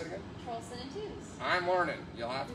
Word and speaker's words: Tews: Trulson and Tews. I'm learning. You'll have to give me some grace. Trulson and Tews.